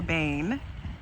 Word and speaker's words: Bane: And if you look in the mirror and face your Bane, which ironically rhymes with pain.